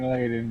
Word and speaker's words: Layden: In an interview with Time, Sony's Sean Layden, is that the correct way to say his last name? Yeah, Sean Layden, yeah.